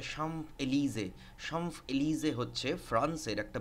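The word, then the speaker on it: Champs-Élysées: সিজ জিন অন্যাম্প এলিজে এটার প্রোনাউন্সিয়েশনটা হচ্ছে সাম্প এলিজে সাম্প এলিজে হচ্ছে ফ্রান্সের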